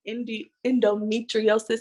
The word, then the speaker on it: endometriosis: So tell us more about what endometriosis is.